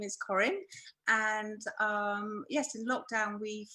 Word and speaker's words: Corinne: It's Corinne, I hope I pronounced that right. And she is from Masks for Extraordinary People. It's Corinne, right? It's Corinne.